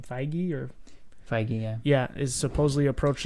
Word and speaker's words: Feige: Feige, yeah.